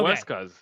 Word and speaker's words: Huescas: Huescas. Huescas. Yes. Okay, remember, don't say it like you're trying to sound it in English. Just say Huescas.